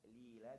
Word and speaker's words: تذليلا: تذليلا. This is lighter, but same place. Tip of the tongue at your teeth.